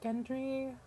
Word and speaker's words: Gendry: robert has a bastard son i think you pronounce it as gendry i believe just by looking in his eyes